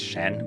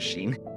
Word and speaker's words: Shen: And it's nice to see that Treat and I guess his name is Shen, but I keep pronouncing it Sheen.